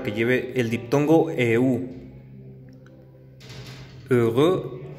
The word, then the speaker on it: heureux: Feliz de estado de ánimo, que se dice heureux. Esta es la pronunciación de la E marcada con labios redondeados. Heureux.